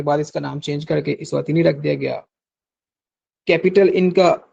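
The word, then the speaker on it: Eswatini: Kingdom of इस्वातीनी। इसातीनी की spelling आप note कर लें।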